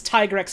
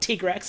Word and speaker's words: Tigrex: the same way that tigrex is Tiger X and not tigrex I'm sorry Capcom that's not how you pronounce it we know more than